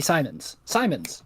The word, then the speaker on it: Siemens: No, S-I-E is pronounced C, and then Sai would be S-E-I. Because like C-I, Sai. So it'd be Simons. Got there in the end.